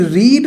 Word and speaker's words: read: Actually रीड जो form होती है, रीड, इसकी सेकंड और थर्ड फॉर्म भी सेम होती है बट प्रोनाउंसिएशन चेंज हो जाती है. That we call रीड, रेड, रेड.